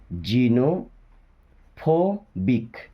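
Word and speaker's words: xenophobic: simulation okay simulation then x ई को पढ़ते हैं जी नो जीनो फोबिक जीनोफोबिक या जीनोफोबिक ऐसा बोल सकते हैं जीनोफोबिक ओके ए लो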